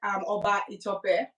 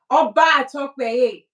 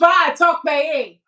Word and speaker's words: Oba Tokpeye: What did you say? Oba Tokpeye. Correct. Oba Tokpeye.